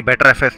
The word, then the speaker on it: Btrfs: So that BTRFS is basically pronounced as the BetterFS, the better file system.